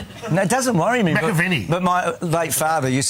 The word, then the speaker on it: McAvaney: How would you have pronounced your own name? Is it McAvaney? Is it? I would have said McAvaney. It's McAvaney.